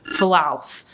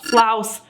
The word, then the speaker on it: Flaus: was pronouncing it like floss floss floss floss floss or floss but it actually should be pronounced flous similar to flour so I got that